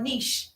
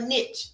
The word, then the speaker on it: niche: I don't a niche, a niche, however you want to pronounce it.